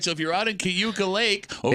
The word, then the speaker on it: Cayuga: Cuca. Cayuga Like a Lake.